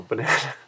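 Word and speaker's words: バナナ: I mean, I've never met a girl named Banana, but if you do pronounce banana in Japanese, it would be banana. Banana. And I said yesterday banana, right, which is a little bit different.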